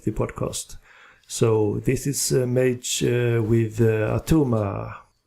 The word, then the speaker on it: M4GE: The band is called Mage, like in M-A-G-E, but it's spelled with the number 4 instead of the letter A.